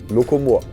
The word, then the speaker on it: Locomore: "Loco-more" "Locomore" "Locomore (ě) from Amore" "Locomore (ě)" I always say but many simply say "locomore". "Locomore" I'm actually not a big fan of Anglicisms